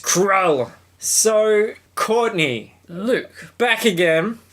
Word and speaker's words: Krull: Krull, one syllable. Quite blunt. Yeah, just Krull.